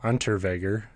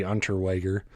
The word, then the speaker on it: Unterweger: Anytime there's a W in a German or Austrian name, I always want to pronounce it with a V. And so I don't know if that's actually right. It might be Unterweger, but I'm going with Weger.